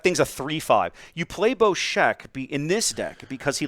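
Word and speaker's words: Bossk: It's Boshek? Boshek. That is correct. So Boshek, it's only 2 attack with him. Yeah, that thing's a 3/5. You play Boshek in this deck because he lets you the discard.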